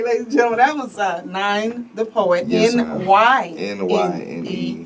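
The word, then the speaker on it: Nyne: Okay, ladies and gentlemen, that was Nine the Poet.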